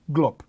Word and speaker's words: GLOP: The authors of this concept simply liked the name, of pronouncing GLOB. So it's not an abbreviation, it's not an acronym, it doesn't stand for anything, it actually stands for GLOB.